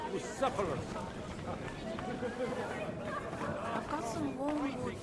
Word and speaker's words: Bucephalus: The sooner life returns to his What kind of name is Bruce Phallus, anyway? It's pronounced Bucephalus.